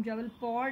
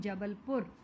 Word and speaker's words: जबलपुर: जबलपुर, जबलपुर, हम जबलपुर नहीं बोलते हैं, हम हमारा सीधा सीधा नाम बोलते हैं जबलपुर, right. So this is एफ, जबलपुर.